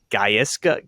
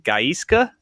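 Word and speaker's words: Gaizka: Gaisa. Gayiska. Giska. Yeah. Giska. G A I Z K A. And that's how I would pronounce it.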